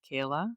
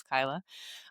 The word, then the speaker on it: Kyla: Um I think similar to Tara I uh my name is frequently mispronounced so it is not Kayla uh but it is Kyla.